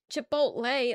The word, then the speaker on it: Chipotle: But like Chipotle, like the lei doesn't doesn't sound right. You say chipotle. It's chipotle. Chipotle.